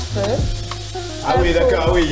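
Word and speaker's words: phở: Attends, toi tu dis feu? Ouais, on se prononce feu.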